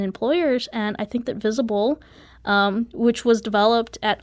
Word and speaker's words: V15ABLE: was really meaningful so it's spelled v15 a b l e and uh I always say that's not a typo that is a 15 in the middle of the name and that's because we